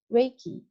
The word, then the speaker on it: Reiki: is a why so Reiki pronounced like ray and key and ice I definitely